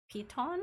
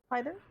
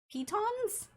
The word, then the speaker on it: piton: It's not Python, it's P-I-T-O-N. Like an I, not a Y.